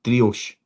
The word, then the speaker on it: Driouech: It seems to be that most are saying it's Driouech.